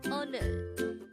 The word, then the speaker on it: 오늘: This is pronounced as a two-syllable word. The first syllable is and the second syllable is nul. Pronounce it with me. 오늘, 오늘.